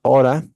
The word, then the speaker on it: ought to: Okay, so this is pronounced oughta, and it basically has the same meaning as should.